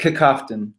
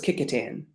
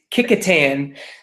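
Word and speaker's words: Kecoughtan: How do you say it? Kicoftton. I thought it was Kickotan. Oh my gosh, you're right. Sixth place, Kickotan. Fifth place, close Atley.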